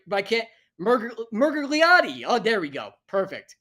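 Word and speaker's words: Miragliotta: Pronounce his fucking last name right, but I can't. Murgliati.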